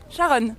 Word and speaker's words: Sharon: Sharon. Sharon. Ouais. Sharon comme le métro Sharon. Non, alors comme Sharon Stone.